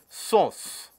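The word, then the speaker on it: Susu: The gangetic river dolphin is also ascribed a name, which is referred to as SOS and is spelled as S-U-S-U.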